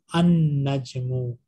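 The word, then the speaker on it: النجم: An-Najmu, the star. When we have Shadda, we don't pronounce Lam.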